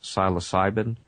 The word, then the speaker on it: psilocybin: And some of the natural substances include something like, I believe it's pronounced psilocybin.